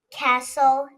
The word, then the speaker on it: castle: Be aware of S-T-L-E. The T is silent. Castle, whistle.